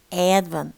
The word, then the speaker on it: advent: No, advent. This is a stressed syllable, and this is a mark of stress. Okay, advent, then, and don't pronounce the T.